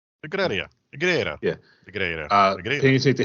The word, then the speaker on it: Negreira: I'm pretty sure I'm going to say the guy's name wrong. You will. Negreira. Negreira.